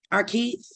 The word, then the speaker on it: Arkeith: Arkeith, is that how I pronounce it? I like that. Hi, Arkeith. How you doing? Yeah, that's how you pronounce it.